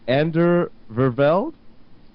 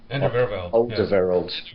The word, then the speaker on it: Alderweireld: You guys have to correct me because I honestly don't know how to pronounce his name. Is it Ander Vervelde? Alderweireld.